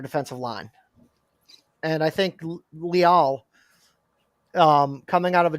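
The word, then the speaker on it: Leal: a guy that's not coming up online demarvin leel uh it's looking like they might be oh yeah yeah yeah yeah okay oh it's pronounced lial yeah they you draft a guy at that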